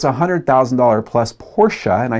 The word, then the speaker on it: Porsche: I don't care if the car is a $10,000 used Datsun or if it's a $100,000 plus Porsche, and I said it right, you folks.